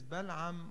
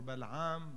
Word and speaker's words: Balaam: learn about this man his name is vellum or Balaam bara pellham bara his name is pronounced differently by different people regardless this individual had